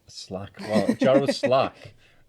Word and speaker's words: Slake: of Tyne it's pronounced Slack Slack well Jarrow Slack it's written slake but never mind Jarrow slack which is